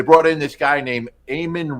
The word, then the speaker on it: Eamon: in this guy named eamonn reeves i believe it's e-a-m-o-n ayman reeves i think that's how you spell it um but he